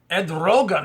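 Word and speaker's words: Erdoğan: trouble in Turkey but uh president of Turkey Ed Rogan is how you say his name uh said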